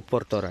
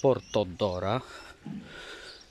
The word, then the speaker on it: Portora: Napisałem kaliodora, jak jeszcze nie wiedziałem, jak to się fachowo wymawia. Kalidora, nie kaliodora. Tak samo portora, nie portodora.